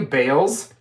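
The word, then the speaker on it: Bails: Did she call you Bales? Yeah. That's what I call Bailey. How dare you? B-A-I-L-S. Yep, Bales.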